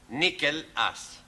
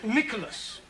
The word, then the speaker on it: Nicholas: upon a times there was a man called nickel ass it's not quite right no no once upon a time there was a woman called Nickolas it's pronounced Nicholas all right once upon a times there was